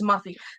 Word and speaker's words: Amalfi: It's from, how do you pronounce this? It's from Italy. Oh, Amalfi. So I was right. Okay, Yeah. so it's Amalfi.